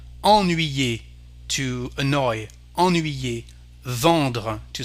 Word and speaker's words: ennuyer: For example, here we have the pronunciation en, ennuyer, to annoy, ennuyer, vendre, to sell, en.